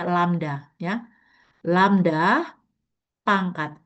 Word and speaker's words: lambda: Atau sama dengan PX itu adalah lambda, ini bacanya lambda ya.